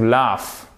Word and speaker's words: laugh: Donc le AU, comment il se prononce? Al, ça se prononce comme un A court, qui est là. Donc quasiment comme un E, ok. To laugh. Mais mon G, il est passé où? Mon G, il est à l'écrit, mais on ne prononce pas. Donc c'est simplement to laugh.